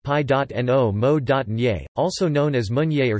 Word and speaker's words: Pinot Meunier: Pinot Meunier, pronounced pi.no-mo.nier, also known as Meunier